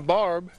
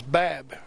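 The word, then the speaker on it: Babb: I was saying Barb, which was spelled on the paper Barb, but it was Bab. Oh. B-A-B-B instead of B-A-R-B.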